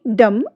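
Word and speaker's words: dumb: यू एम बी डम आप यहां पर देखिए ये चारों ही स्पेलिंग्स में हमारे लास्ट में बी तो पुट अप किया गया है बट जब हम इसे प्रोनाउंस में रख रहे हैं तो इस इन सभी में हम बी को कहीं भी प्रोनाउंस नहीं कर रहे हैं।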